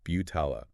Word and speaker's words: Butala: It's not pronounced how it looks. It's Butala, B-E-W-T-A-L-A.